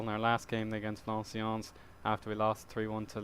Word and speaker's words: Valenciennes: And then Valenciennes, I keep pronouncing them wrong, but I heard it on the TV yesterday, their name is Valenciennes, and they got a